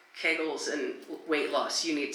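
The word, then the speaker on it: Kegels: that I do pelvic floor exercises which is pronounced kegles sir.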